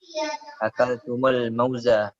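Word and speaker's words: أكلتمُ الموز: Akaltum al-mawzu. Kenapa? Akaltum al-mawzu. Al-mauza. Ingat ya. Ini penanya file-filenya ini maf'ul bihnya ya. Jadi di apa namanya? Di fathah. Akaltumul mauza. Jadi dihidupkan ya mimnya ini.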